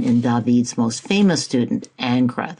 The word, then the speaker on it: Ingres: David's most famous student anra that's how it's pronounced in French this canvas is nearly